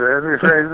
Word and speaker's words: Reza: But, you know, I think it throws people off because it's spelled with an E, you know? And you say it like an A.